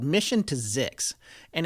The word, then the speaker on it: Zyxx: There's this new podcast out called Mission to Zix, and it's actually Wait a second. Zix? Zix, yeah. How do you spell that? ZYXX, just like it sounds.